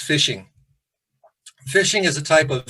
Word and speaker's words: phishing: what is fishing and it's pronounced fishing phishing is a type